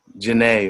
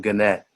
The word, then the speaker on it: Genet: agenda of the man Citizen Genet or Citizen Gannett, depending on how you want to pronounce his name.